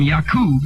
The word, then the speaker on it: Yakub: from black people and come from yakub is the correct pronunciation what does that say